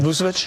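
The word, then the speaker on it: Vučević: Vousvich. Vousvich.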